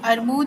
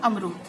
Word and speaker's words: अमरूद: और ये अरमूद है, बोल और सही उच्चारण होता है अमरूद। ठीक है, अक्षरों को आगे पीछे कर देते हैं बोलते वक्त, तो यहाँ पे ध्यान देंगे कि माँ पहले आएगा, रा बाद में आएगा।